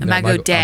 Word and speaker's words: Imago Dei: Imago Dei, or am I pronouncing Day. it? Imago Dei.